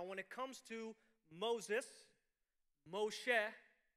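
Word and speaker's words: מֹשֶׁה: it comes to moses moshe pronounced in hebrew which means to draw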